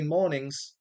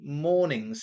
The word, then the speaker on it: mornings: Going to highlight mornings here because when you listen to the song, he doesn't say mornings. He doesn't give that sound. He says mornings. Okay? So he pretends the G isn't even there.